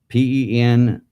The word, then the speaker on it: Peniel: Now, Jacob says, and Jacob called the place Peniel, Peniel. Now, the pineal gland is Pineal. There's not much difference, and they're both pronounced the same way.